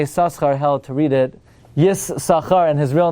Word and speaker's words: Yissachar: That mistakenly led to pronounce Yissachar as Yissaschar.